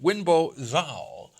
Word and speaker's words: Wenbo Zhao: Let's start, first of all, though, with WENBO ZHAO. I pronounced it right?